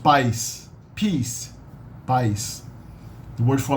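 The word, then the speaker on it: paz: spelled p-a-z instead of being bus is usually pronounced pies peace pies the word for light in Portuguese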